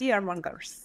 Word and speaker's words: fearmongers: mongers there we go and syllable stress fearmongers I'm gonna write this down hold on fearers exactly fearmongers fear mongers that's got primary and secondary stress fear mongers fearmongers fearmongers